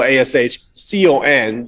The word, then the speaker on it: Ashkan: So if you want them to call you Ashkan, you need to go Ashcon, then the pronunciation comes correctly.